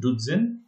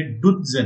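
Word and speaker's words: duzen: वन इज डुज़न एंड वन is season. Just to recall, ये डुज़न नहीं है, ये डुज़न है, राइट? बिकॉज जेड का प्रोनाउंसिएशन तज करके होता है, टी जेड करके होता है.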